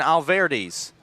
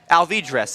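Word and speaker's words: Alvidrez: and that'll bring up Sebastian Alvarez alvidras excuse me we got the pronunciation of alvidris's last name from his dad and a huge shout out to Adam alvidras who sent an email to Chuck Eamon who then sent it to myself and the broadcasters to the western Nebraska Pioneers on how to pronounce his son's name as the first ball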